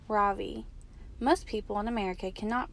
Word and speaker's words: Ravi: first name is Ravi it's pronounced Ravi with a soft rock and a strong V in Sanskrit it means the Sun in America people call me Ravi with the stress on the first syllable that doesn't mean anything